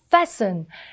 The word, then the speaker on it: fasten: fasten. fasten이 약간 튀는 묵음이죠.